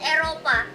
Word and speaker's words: Eropa: In Indonesia, we call it Eropa.